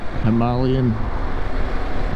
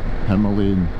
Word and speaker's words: Himalayan: It's supposedly pronounced Himalayan and not Himalayan.